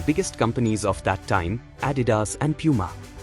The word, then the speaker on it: Adidas: similarly overtake the biggest companies of that time Adidas and Puma M camaras had replaced the dominant German cameras in the American market and he wondered whether Japanese shoes could do the same to Puma and Adidas which were at the time extremely popular in